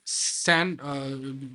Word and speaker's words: ScaNN: For the Google also, there is one of the vector library which is scan, SCANN, SAN, it pronounced like S is silent there.